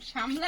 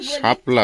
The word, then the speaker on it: শাপলা: শামলা আমি তো শামলাই শাপলা বলছি অনেকেই বলে সীমা তুমি শামলা বলো কেন শাপলা তো যাই হোক ওটা মানে বলে একটা অভ্যাস হয়ে গেছে আঞ্চলিকভাবে শামলা শামলা হয়েছে উচ্চারণটা শাপলাই হবে তো শামলাতে যখন আসছিলাম